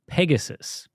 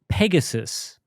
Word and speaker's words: Pegasus: name Asus originates from Pegasus as in the winged horse from mythology now Pegasus Pegasus not Peg Asus that's right right so